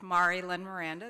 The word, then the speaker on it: Marie Lynn Miranda: I made a bet that my name was going to be mispronounced as I walked up and I was right. It's Mari Len Miranda.